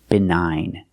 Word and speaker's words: benign: another example of GN the GN is at the end so the g is silent benign benign means not harmful